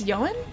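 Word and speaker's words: Ioan: I don't know how to say it though cuz it's not like iron. It's not like the way that it looks like it's spelled.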